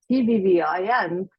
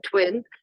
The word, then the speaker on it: TVVIN: words about when because sometimes I hear people say TV I am but it is actually pronounced as you see here uh twin and the two v's